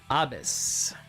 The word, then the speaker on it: Abez: It's Abez. Like abyss, but just Not getting 10 soul or 15 soul.